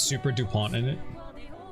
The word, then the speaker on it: Dupont: It's Super Dupont in it. You probably don't even pronounce the T, right? It's French. It's probably like super dupon, you know.